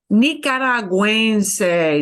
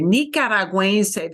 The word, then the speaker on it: nicaragüense: This is one of those odd words that gets the umlaut because Normally G-U-E, we don't pronounce the U, but here, because we do want you to pronounce the U, it's not silent here.